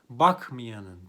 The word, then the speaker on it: bakmayanın: yine bir kuralımız var artar alması kuralı bakmayanın diye yazılır ama okurken bakmayanın diye okunur mezarını kazacağım Burada